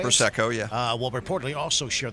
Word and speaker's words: Prosecco: Prosecco, yeah.